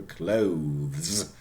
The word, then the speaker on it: clothes: The same thing with the clothes, very difficult word to pronounce, okay, the plural, clothes, yeah, V, voiced, Z, must be voiced as well.